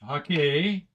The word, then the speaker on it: Hake: Okay, so the Hake brush, Hake, it's pronounced Hake, which is Japanese.